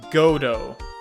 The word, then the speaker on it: Godot: sure that mr delight really is damask it's pronounced godo gotogodo okay got it did i say it